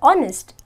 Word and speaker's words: honest: I'll tell you why when I pronounce the word honest I have to say honest and not honest so automatically this becomes silent and the first word